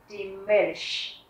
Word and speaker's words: Milch: Các bạn thấy ở đây là chữ N-C-H, âm CH ở đây mình sẽ đọc là sh, giống như chữ ich, d-milch.